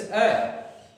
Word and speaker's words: a: एक इंपॉर्टेंट बात बताना चाहूंगा आपको, it's pronunciation is इट्स अ नॉट ए, इसका प्रोनाउंसिएशन है अ, ध्यान रखिएगा साथियों।